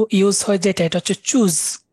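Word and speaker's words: Tschüss: ফাস্টেরটা সবচেয়ে ইউজ ইউজ হয় যেটা এটা হচ্ছে choose T এস এস S choose choose মানে হচ্ছে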